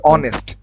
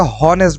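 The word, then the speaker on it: honest: হটা না হয়ে এখানে হবে অনেস্ট। মানে এইচ এর পর ও থাকার কারণে এখানে হটার উচ্চারণ হবে না। এখানে শব্দটার উচ্চারণ হবে অনেস্ট। ওর মত অনেস্ট। হয়তো অনেকে হনেস্ট বলবে।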